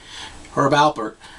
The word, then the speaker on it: Herb Alpert: You always say it like there's a B in it, even though you spell it with a P. Herb Alpert.